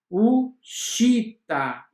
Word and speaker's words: uscita: Outro exemplo é o SC seguido das vogais E e I. Exemplo, uscita, scendere, scendere, asciugare, asciugare.